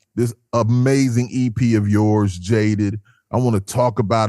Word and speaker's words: JADEEE: Obviously, my artist name is J A D E V E, which is pronounced Jade. Well, I pronounce it Jade.